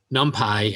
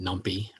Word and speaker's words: NumPy: So Numpy, and that's the way you say it. I think when I originally started, I called it Numpy, but it's Numpy is the way they pronounce it.